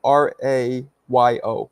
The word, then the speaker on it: Rayo: well it's Rayo Tyler's it's spelled r a yo I believe not Rio Rayo r a Yo which